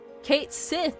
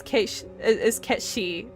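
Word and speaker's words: Cait Sith: I don't know, I think it's really irresponsible of them that they confirmed that the correct pronunciation was Kate Sith. No, the fuck it isn't. I'm not calling him that. His name is Ketshi.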